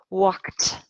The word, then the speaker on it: walked: Walked. You are correct. We pronounce this with a T sound, walked.